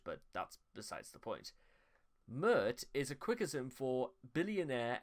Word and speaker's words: Pmurt: And Trump spelled backwards is Mert, which rhymes with hurt, and he would badly Mert this country in office.